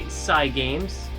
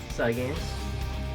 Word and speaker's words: Cygames: It's based on a property by Cygames. I believe that's how you pronounce the name, Cygames. Because, I feel as though Cygames is a contraction of Cyber Games.